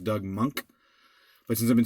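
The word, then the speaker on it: Doug Moench: Doug mentions name is actually pronounced Doug monk but since I've been saying Doug mint since I was 11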